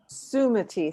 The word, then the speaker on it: Sumati: Sumati. Think of the emphasis on the first syllable.